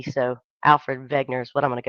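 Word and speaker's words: Wegener: it that way but he was German they pronounce the the that W with a V so Alfred Vagner is what I'm going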